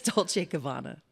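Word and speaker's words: Dolce & Gabbana: And I can never pronounce the name of this this uh, high-end whatever it is. It's Dolce Kabana. Dolce Kabana.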